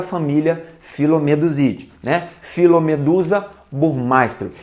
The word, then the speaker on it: Phyllomedusa burmeisteri: eu já vi tô a maioria das pessoas né que pronuncia o nome dessa pererequinha produziu pronunciam phyllomedusa burmeisteri então vai ficar essa frescura